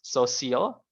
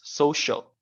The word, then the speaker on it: social: I heard, if I'm not mistaken, this social, yeah, it was pronounced social, while it should be pronounced social. So with the emphasis in the first, social, like that, yeah.